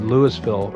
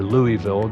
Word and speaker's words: Louisville: The Ohio River has flooded Louisville, or Louisville, depending on how you say it, several times, for example,